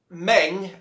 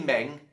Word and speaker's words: Meng: And I say Meng, I think it's supposed to be pronounced something like Mung or something, but us, you know, English speakers, it's spelt Meng, and that's traditionally how we pronounce it. So apologies to Meng, Mung, and the purists out there, but I'm going to call them Meng.